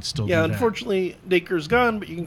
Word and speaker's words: Dacre: Sadly, I missed a good chunk of that, but I'm going to listen to Dacre. it later. Dacre.